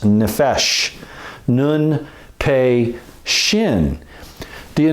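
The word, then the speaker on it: נֶפֶשׁ: The word for soul in Hebrew is this one right here, and it's pronounced nephesh, nun, pe, shin.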